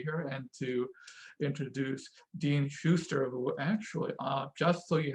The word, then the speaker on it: Schuster: Dean Schuster.